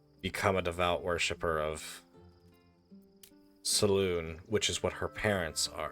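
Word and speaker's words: Selûne: Saloon, I believe it's actually pronounced Saluna, but it's spelled...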